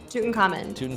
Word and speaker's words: Tutankhamun: Tutankhamun? Tutankhamun.